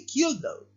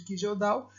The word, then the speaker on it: Kjeldahl: É o método de Kildall, ou método de Kijeldal, tá? A maioria dos vídeos que vocês vão encontrar por aí fala método de Kijeldal, que é a forma correta da gente pronunciar, né?